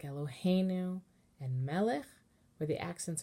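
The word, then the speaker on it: אֱלֹהֵינוּ: But now that we have a Hebrew word that has the accent in the middle syllable, the melody for Tipcha needs to be moved over.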